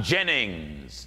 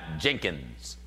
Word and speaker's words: Jennings: my last name right i'm jennings not jenkins jennings not jenkins